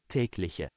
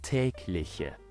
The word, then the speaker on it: Tägliche: or intreing so let's dive into today Word tlich which means daily in GER let it all tlich tlich tlich one more time tlich tglich tglich ageation EXP